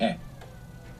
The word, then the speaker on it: he: Let's start with e. E, all by itself, means I have. It's spelled H-E. And of course we have the silent H there from haber in e, H-E.